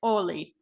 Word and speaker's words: Holi: way they say it, which is kind of a silent H, so it's like Oli kind of thing.